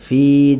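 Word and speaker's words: فِي: আলাইহিম মুসাদা এরপরে ফায়াজের ফি জেরের বামে ইয়া সাকিন এক আলিফ টানতে হয় এখানে আমরা এক আলিফ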